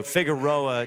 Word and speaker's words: Figueroa: this year they do figueroa check that is the correct correct pronunciation on that he just